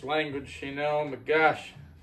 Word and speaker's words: Geaux: Today, on Big B beer review, we have Pecan Ale, Go Nuts, from the Abita Brewing Company.